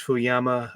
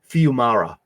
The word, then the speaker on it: Fiumara: If you're not tuned into Sacrificers by Rick Remender and Max Fuyama, is that how you say his name? Fiumara.